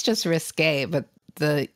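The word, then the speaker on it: risqué: um less less RIS I'm sorry you you pronounce it okay risk undefined I think it's just risque a but the E isn't like defined yeah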